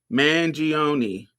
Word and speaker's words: Mangione: But I don't know how to pronounce that shit. How you say it? Mangione.